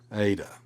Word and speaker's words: eta: Uh, that you don't pronounce it like an N, but the long a sound.